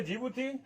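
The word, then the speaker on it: Djibouti: एस से Somalia, ई से Egypt, ई से इरिट्रिया, डी से जिबूती होता है, इसमें डी जो होता है साइलेंट हो जाता है, और वाई से यमन हो जाता है।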